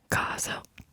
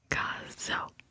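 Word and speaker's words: coso: It's caso. And again, it's kind of hard for me to whisper the Z, but it has like a Z sound, even though it's spelled C-O-S-O. It's caso.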